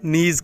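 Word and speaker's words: knees: हैं उनको इंग्लिश में नीस कहते हैं कि एन डब्ल्यू एस इसमें भी के साइलेंट है कि आवाज नहीं आएगी यहां से हमने क्या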